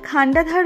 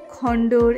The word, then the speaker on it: Khandadhar: ধার ওয়াটারফলস এর কাছে আমি অনেকবার খান্ডাধার ওয়াটারফলস কে নানা রকম ভাবে বলে ফেলেছি এখানকার প্রপার প্রোনাউন্সিয়েশন টা হলো খান্ডাধার জলপ্রপাত আমি আগে খন্ডর এ সমস্ত বলেছি যার জন্য আমাকে ক্ষমা করে দেবেন চলুন এবারে আমরা সামনে দেখি